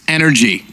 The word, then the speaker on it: NRG: Which is actually pronounced energy. Is it really? Like the drink.